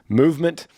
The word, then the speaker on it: MVMT: Movement, and that's spelled out MVMT is how they call it, MVMT, grew into the fastest growing watch brand, shipping to over 160 companies across the globe.